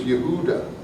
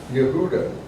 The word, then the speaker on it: Yehuda: Now notice the way Judea is spelled. It's spelled exactly, in Hebrew it's Yehuda. I hope this will work. Yehuda. Y-H-H, and this would be maybe a W.